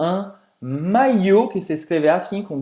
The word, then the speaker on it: maillot: Sim, vem uma palavra francesa que é un maillot, que se escreve assim com 2 L, tem o O e tem o T que é mudo, un maillot. Un maillot, hein, como se fosse aqui um I longo, un maillot.